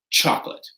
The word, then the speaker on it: chocolate: So chocolate has that C-H at the beginning, and it's pronounced with the hard 'tch", chocolate.